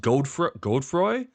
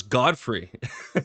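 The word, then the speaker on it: Godefroy: Also, it's pronounced Godroy. I thought it was Godfrey.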